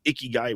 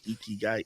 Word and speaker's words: ikigai: a Japanese thing, and the whole world likes to pronounce it wrong and call it ikigai, which hurts my face. It's ikigai, e as in good, ki as in life, gai as in way, good life way.